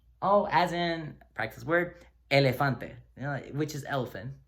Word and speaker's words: elefante: So, All right, so Oh, as in, practice word, elefante, which is elephant. Sounds like the English elephant.